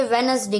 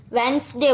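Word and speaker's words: Wednesday: लेना है Monday ट्यूसडे वेडनसडे Thursday व्यवसाय है मेरे को इतनी बच्चों इसको गलत तरीके से स्पेशल करते हैं इसको हम वेनसडे बोल क्या बोल रहा है वेडनेसडे silent night Anu Malik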